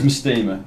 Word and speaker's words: Mastema: How do you actually pronounce it? It is Mastema.